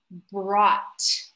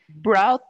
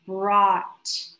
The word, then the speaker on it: brought: okay good good good the one thing is the pronunciation of brought so the past of bring broad okay it's more of an ah sound brought yeah the sound of t and finally is pronounced more with more force the vowel sound is less of an o and more of an ah brought exactly right yeah okay